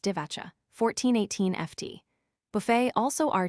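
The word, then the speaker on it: Divača: To 10 or 28 m equals Divacha equals pronounced Divacha, 1418 FT.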